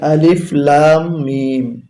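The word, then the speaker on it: الم: রয়েছে আলিফ লাম মিম দেখুন আলিফে কোন কিছু নেই তাই আলিফ শুধু অক্ষরটি উচ্চারণ হবে লামের উপরে মোটা চিহ্ন আছে তাই চার আলিফ টেনে পড়তে হবে মিমের উপরে একটি তাসতদ আছে এবং মোটা চিহ্ন তাই গুণনা করতে হবে সবুজ কালির জন্য আর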